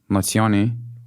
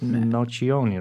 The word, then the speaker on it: Nocioni: Only Andres Nazioni, or he's Nazioni or Nazione? Nazioni, maybe. If it's Italian pronunciation, then it's Nocioni, right?